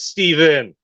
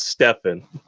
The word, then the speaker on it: Stefan: It's like, no, it's Steven. It's not Stefan. It's spelled Stefan, man.